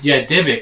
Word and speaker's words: Dybbuk: So there's a story of a Dybbuk is how you say it, a Dybbuk box.